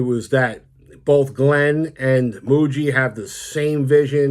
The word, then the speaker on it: Mougey: because I was gonna I was going to pronounce his name as mogie but apparently it's Muji so Darren Muji right from Denver and young young guy 39